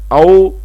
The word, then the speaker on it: Ao: Ao, le O fermé comme dans repos, hôpital.